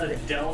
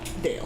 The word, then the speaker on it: Dale: I thought you said Adele for a second. No, Dale. Dale. Oh, yes. One syllable.